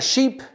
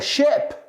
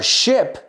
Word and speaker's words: ship: I said, no, I was on a big sheep. And I said, oh, a ship. A ship? Oh, muy diferente. A ship que a sheep.